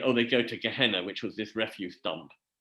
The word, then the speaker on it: Gehenna: There is Gehenna is actually, Gehenna as it's pronounced, is a valley outside Jerusalem, which was where they used to tip all the refuse.